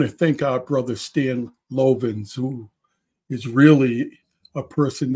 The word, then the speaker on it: Lovins: Is it pronounced? Lovins. Lovins.